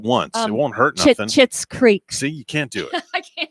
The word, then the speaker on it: Schitt's Creek: Chits Creek. See, you can't do it. I can't. It's like I gotta say it like a chiclet.